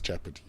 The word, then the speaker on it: Jeopardy: his nickname actually so if you want to say it right it's Jeopardy okay okay let's